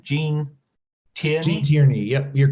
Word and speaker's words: Gene Tierney: So this leads us to Gene Tierney, who is am I mispronouncing her name? Gene Tierney? Gene Tierney, yep, you're correct.